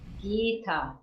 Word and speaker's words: Gita: So we need our diacritical marks, Gita. So it's a long I and a long A.